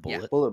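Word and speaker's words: Bulleit: bourbon bourbon I don't is it is it pronounced Bullet bourbon yeah because it's spelled weird is it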